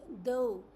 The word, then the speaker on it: though: Uh for instance if we talk about o u gh in through it is oo sound in rough it is sound and in though it has o sound.